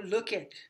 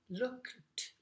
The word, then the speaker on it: looked: Por ejemplo, look. Plus más ed, no digo look it, no. Yo digo looked, looked, looked. Una sílaba.